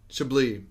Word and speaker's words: Chablis: Chablis. My bad, I've been saying the name wrong.